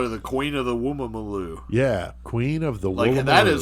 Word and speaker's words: Woolloomooloo: We're going to say this. Woolloomooloo. Woolloomooloo. That's it. And there are double O's at every time. Every one of those.